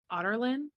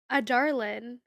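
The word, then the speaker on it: Adarlan: as otland oh what that's how it's supposed to be pronounced otland yeah it's otter it's like otter yeah otland you how were you pronouncing in your head drew a Darlin that's what I thought too like a hard D like a Darlin I mean I'll be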